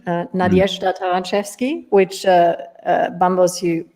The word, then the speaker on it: Taranczewski: in the beginning with my name uh nadia taranchevsky which uh uh bamboos you pronounce it beautifully um you can already see